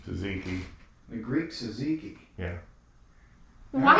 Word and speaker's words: tzatziki: Tzatziki. Tzatziki.